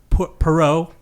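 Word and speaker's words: Poirot: Uh, so, uh, Pero, like that's how you pronounce it.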